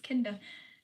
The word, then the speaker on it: Kinder: You're kinda bonnet. I say kinda because it always pronounces that on my oaths, but it's kinder.